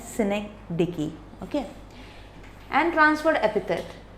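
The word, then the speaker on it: synecdoche: तो सिमिली के बाद सिनेक्डिकी, इसकी प्रोनाउंसिएशन हमेशा रॉन्ग हो जाती है, लोग हमेशा रॉन्ग ही बोलते हैं इसको, पर इसकी प्रोनाउंसिएशन है सिनेक्डिकी, ओके।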